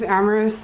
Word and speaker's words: Amaris: My name is Amoris. It's pronounced like glamorous.